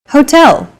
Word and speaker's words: hotel: subway foreign next hotel hotel see that in Portuguese H is the first letter is always silent except for specific foreign loan words for a specific Hotel